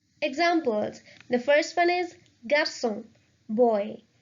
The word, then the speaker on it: garçon: So if we remove this accent from the C, it would be pronounced as garçon, which makes no sense. So this C is mandatory. So the word will be pronounced as garçon, garçon. The second one, français, which means French.